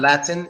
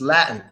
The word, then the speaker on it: Latin: Manhattan both quiet again that's not Latin it's Latin Latin when you're talking about